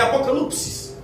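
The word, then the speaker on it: ἀποκάλυψις: E a palavra Apocalipse, no seu original, a pronúncia é apocalipsis, e significa revelação.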